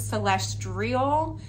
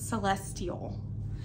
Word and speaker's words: celestial: it it's very like celestial celestial i always thought it was celestrial but when i tried to spell it like that one day it was not so it's celestial anyway like a space